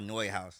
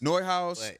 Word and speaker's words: Neuhaus: Like is it, how do you pronounce Neuhaus? It's called Neuhaus. Neuhaus, and then it's Grandmasters, then it's like, it's